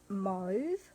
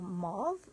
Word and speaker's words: mauve: I wanted to show you a quick video on how to make a monochromatic card, and it's using the Moody Mauve or Mauve, depending on where you are, and how you would pronounce that word, M-A-U-V-E.